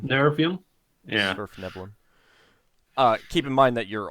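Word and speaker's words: svirfneblin: How do you pronounce that name? Surfneblin. Nervium? Yeah. Surfneblin.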